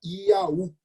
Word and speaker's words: Iaú: Se nós tentarmos trazer para a língua portuguesa o nome do Deus judaico, nós vamos ter uma pronúncia que se fala Iaú, Y-A-U-H.